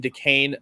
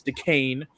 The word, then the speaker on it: Duquesne: And we're taking Duquesne. That's how you pronounce it, people, not Duquesne or whatever you want to call it. It's Duquesne.